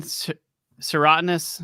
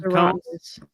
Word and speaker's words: serotinous: So Lindsay, how do you pronounce this again? Serotinous? Serotinous.